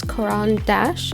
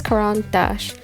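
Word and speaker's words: Caran d'Ache: and I believe it's Quan Dash or like that's like I guess the most English way to say it because it's a it's a French name um but I'm not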